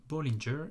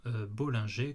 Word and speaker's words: Bollinger: créateur américain John Bollinger, donc ça se prononce bien Bollinger et non Bollinger comme on l'entend parfois sur les chaînes francophones, ça c'est pour mon côté puriste.